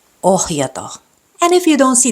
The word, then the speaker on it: ohjata: Doesn't matter whether it's in the beginning or in the middle of the word, you have to pronounce the letter H. Kohta. Suhde. Ohjata.